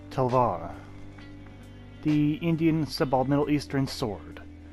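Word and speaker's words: talwar: In terms of historical significance, it's a bit hard to tell, but perhaps the Telwar, or pronounced Telvar, the Indian Middle Eastern sword.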